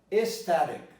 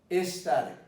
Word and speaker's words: aesthetic: But this is pronounced E. The difference here is this is aerosol, and this is aesthetic, aesthetic.